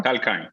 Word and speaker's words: Tal Kine: I want to introduce you to a company called Velocity and their CEO, co-founder Tal Kine. Is that how you pronounce it, Tal? Yeah. Tal Kine.